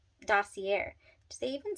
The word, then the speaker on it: Dossier: So Dossier is how you pronounce Dossier.